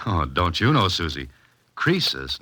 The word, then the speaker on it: Croesus: Crisis was a rich king. Oh, don't you know, Suzy? Croesus, not Crisis, was a rich king.